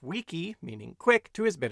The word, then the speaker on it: wiki: Howard Cunningham, when he applied the Hawaiian word pronounced wiki, meaning quick, to his bit of software, the WikiWeb.